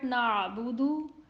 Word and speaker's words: نعبد: On hamza, sound stops at once and then dal has dhamma on it and it would be read round.